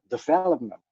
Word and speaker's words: development: But in English, you have to do it on the second syllable, so development and celebrity.